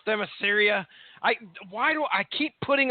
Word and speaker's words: Themyscira: Themyscira. Themyscira. Okay, that makes sense. I kept messing that. I misplaced the I every single time.